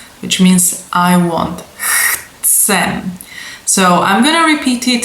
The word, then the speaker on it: chcem: So the ts is more like imitation of some kind of insect, right? So maybe a cicada.